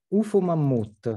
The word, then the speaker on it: Ufomammut: Pronounce it for me. Ufomammut.